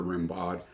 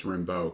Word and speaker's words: Rimbaud: rimbaud but more and it might be rimbeau that's probably what it is and i'm saying it wrong so just pretend like i didn't say it that way earlier on so don't leave me a comment it's rimbo because i got it now but more recent